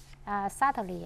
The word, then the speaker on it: subtly: Subtly, I think I would say it's uneasily to be detected.